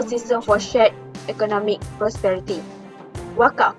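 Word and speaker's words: Waqf: Wakaf, W-A-Q-F, pronounced Wakaf, is an Arabic-derived word to mean endowment.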